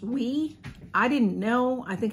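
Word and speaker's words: OUAI: two that i got so i wish there were different choices some people get some fabulous perfume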